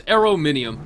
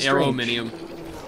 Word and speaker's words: aluminum: finally clear this up according to the way it's spelled it would be aronium aronium it's aerom minum yeah it was uh it was corrected to me multiple times yeah it is arom minum anyhow thank you so